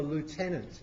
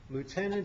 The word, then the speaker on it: lieutenant: Still a lieutenant, as it's pronounced in the Navy. Aware of that distinction? Lieutenant in the Navy, lieutenant in the Army.